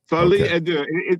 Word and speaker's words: Folie à Deux: Folie à deux.